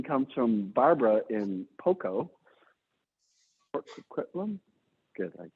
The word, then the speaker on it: Port Coquitlam: Port Coquitlam? Good, I pronounced that properly.